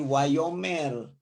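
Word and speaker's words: וַיֹּאמֶר: Jadi wa, yo. Kemudian di sini apa? Ada kata apa? Ada mem di sini. Tambah hataf, segol. Mem tambah di sini jadi me. Kemudian tambah res. Jadi wayomer.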